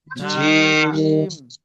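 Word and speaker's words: جيم: আলিফ বা বা তা সা জিম জিম জিম জিম জিম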